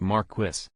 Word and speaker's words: Marquis: The locals here pronounce it Marquis. I understand this street was probably named from afar and the locals were given the name on paper and didn't know the proper pronunciation. However, it is now 2022. And almost everyone has TV and Google available. So at this point the fact that everyone continues to pronounce it Marquis instead of Marquis is a small hill,